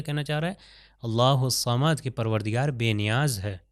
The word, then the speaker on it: الصمد: بھی اسی طرح اللہ الصمد، اللہ اس صمد نہیں کہنا، الف سے تلفظ نہیں کرنا۔ دیکھیے اگلی آیت پہ